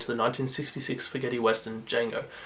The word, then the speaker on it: Django: the 1966 spaghetti western Django through the infamous "the D is silent" line.